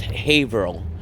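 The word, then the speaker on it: Haverhill: I say it's Haveril, but I say Haver Hill because that's how the GPS uh uh pronounces Haveril.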